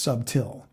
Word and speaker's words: subtil: SBT i l and it literally was pronounced subtil at the time in 1611 is there a different